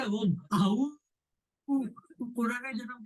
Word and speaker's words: Om: The one syllable Om. Because Om is all inclusive. Om, the whole creation, maintenance and destruction is happening within the Om. Many people say, Aau. Jackal. Om nahi bolte. They don't say Om.